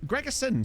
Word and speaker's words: Gregerson: It's Gregerson spelled like that implied he was like Scandinavian.